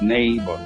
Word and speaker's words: neighbor: spelling for neighbor that there's a g and it's silent okay and for foreign